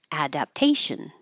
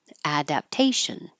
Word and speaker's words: adaptation: a slang excuse me adaptation adaptation this is I think an interesting word because we we don't reduce this to adop it's just adap we keep the same ad adaptation it's worth nothing it's